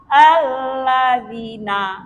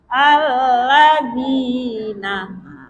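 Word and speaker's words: الذين: Jangan dibaca alladzina. Nah itu gak panjang namanya. Jadi cara memanjangkan itu kita harus paham. Kadang ada yang paham panjang tapi membacanya gak pandai. Nah, gitu cara alladzinaah ya.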